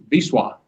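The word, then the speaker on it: Wisła: However, what looks like the Vista River is actually pronounced Biswa.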